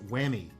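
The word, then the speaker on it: Huami: put up on the screen here but it's pronounced whammy and whammy is a very chinese company but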